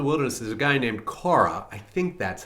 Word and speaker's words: Korah: And when they get out in the wilderness, there's a guy named Korah. I think that's how his name is pronounced.